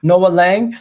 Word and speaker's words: Noa Lang: name let me just find out how to pronounce it properly no no noah lang so he can play on he can play